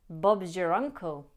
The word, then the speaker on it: Bob's your uncle: Bob's your uncle. Bob's your uncle. If you were to use the strong version of your, then the meaning would change and this phrase would become much more literal.